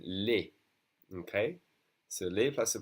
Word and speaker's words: les: But when there's an S, it's always going to be pronounced E, as in les.